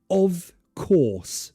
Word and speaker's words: of course: the main thing is you want the schw of course no with English pronunciation less is better so of course sounds really weird you want it less of of of course of course notice the first word of I don't really pronounce the vowel sound at all it's just of